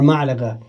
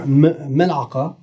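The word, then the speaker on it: ملعقة: Ma'laga sounds similar to mel'aga. Mel'aga. Mel'aga, or mel'aqa, is actually the Fusha word and Amiya word for spoon, okay? So what's happened here is, in my estimation, this is crept in because it's easier for people to say ma'laga than it is to say mal'aga, okay?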